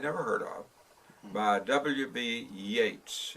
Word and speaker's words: Yeats: Yeats. Is that the proper pronunciation of his name? Yeats, W.B. Yeats. Yep.